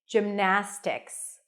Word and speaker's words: gymnastics: a j sound then it's the I as in sit gim Jim Close Your Lips for the M then we have na that's the primary stress that's the a as in cat not gymnastics but gymnast and then tixs if if you struggle